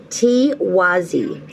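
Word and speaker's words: Tiwaz: let me get that for you now it's pronounced t wazi it means divinity or sun a key theme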